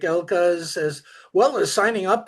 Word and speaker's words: Elke: And I know in Germany, it would be easy to say Elke, but it's Elka just because that's how they pronounce it in Germany, right? Well, it's a short E.